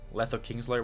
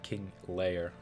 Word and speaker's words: Kingslayer: Someone asked yesterday if Letho Kingslayer was worth it. King Slayer, not King Layer.